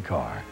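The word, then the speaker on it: Kerr: couldn't take it Deborah Carr it still rhymes with star see more of Deborah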